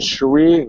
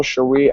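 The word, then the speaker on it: Shari: about uh go follow cherie alexander s-h-a-r-i alexander just like it's spelled um and you'll see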